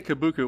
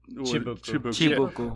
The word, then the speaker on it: Kibuku: How do you say it? Kibuku. Well, we say Kibuku. One of them said Chibuku.